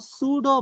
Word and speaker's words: pseudo: P is silent.